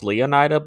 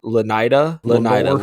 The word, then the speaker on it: Leonida: So it's based off of like Northwestern Leonard Leonard County, so I'm guessing it's not pronounced Leonida, but more like Lenida, because it's like Leonard. So Lenida is the state in which GTA 6.